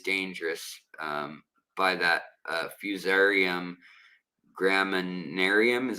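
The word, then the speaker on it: Fusarium graminearum: And um it's also there there is a a bacteria as well that is dangerous um by that uh fusarium gramminarium is how you say um it's in the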